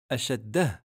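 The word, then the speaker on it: شدة: On aura donc à la prononciation deux lettres. Ashaddatu ou ashaddah.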